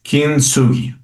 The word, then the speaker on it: kintsugi: asiático, no sé, pero se pronuncia kintsugi, ¿no? El kintsugi. Lo estoy pronunciando lo mejor que puedo.